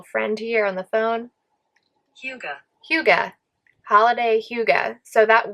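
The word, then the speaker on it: hygge: speakers probably say it is actually pronounced huga huga uh so holiday hyuga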